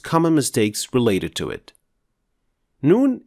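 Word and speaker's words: نون: mistakes related to it noon is another letter pronounced from the edge of the tongue the edge of the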